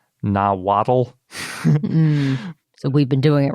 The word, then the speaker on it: Nahuatl: that we usually pronounce Nahuatl. So we've been doing it wrong. Yes. So it's really just two syllables, and it ends in that sort of soft T sounding thing.